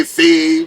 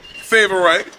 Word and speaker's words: Favorite: LSU some people say fave some people say favorite some people say how do you say your last name favorite so you had it right that rhy look at